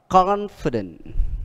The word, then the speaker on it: confident: cái từ ngoại lệ đó là confident, là nhấn trước nó hai âm confident. Bình thường chúng ta hay bị lỗi ở cái đời, hay phát âm là confident, nhưng mà ở đây là confident, đó là ngoại lệ.